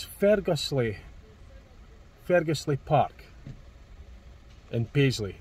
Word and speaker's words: Ferguslie: called get to pronounce I know great be pronouncing names H it's Fergus Le Fergus Le Park in Paisley in Scotland just